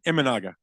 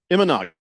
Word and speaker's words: Imanaga: the picture did I say his name right imaga imanaga I was close uh he goes up there